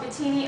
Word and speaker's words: Mbitini: starting to hear it they do say the M but it's just so slight that we don't pick it up so B always has